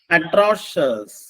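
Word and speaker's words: atrocious: അറ്റൻ് next third one അട്രോഷസ് എ ടി ആർ ഓ സി ഐ ഒ യു എസ് എന്താണ് എ ടി ആർ ഓ സി ഐ ഒ യു എസ് അട്രോഷസ് എന്നാണ് അതിന്റെ ഉച്ചാരണം അട്രോഷസ് അട്രോസിറ്റി എന്നൊരു വാക്കുണ്ട് അട്രോസിറ്റി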